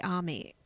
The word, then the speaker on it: Amy: this woman called sherry army it's it's spelt amy but she says army basically she was dead